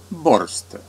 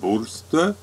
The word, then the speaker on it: Borstö: Podobnie jest z który na początku i przez cały film określali nazwą bor a potem Przyszło nam do głowy że może troszeczkę źle to wymawiamy i zapytaliśmy dwóch osób Finki z sąsiadującego jachtu ta powiedziała bur oraz wkładaj sobie podkładaj